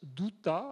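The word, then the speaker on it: Douthat: New York timbres un type qui s'appelle Ross douta alors j'ai lu il écrivait quelque part que même les Américains ne savent pas prononcer son nom ça s'écrit des o u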